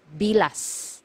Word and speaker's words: bilas: careful with this one you have to pronounce the letter S at the end because if you mispronounce it nearer to letter T it is actually it actually means the private part of a woman okay so make sure you pronounce the letter s it should be bilas okay next one illegitimate